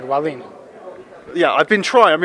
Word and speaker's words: Wallin: I'm doing great and you said all right valine yeah I've been trying I'm in practicing I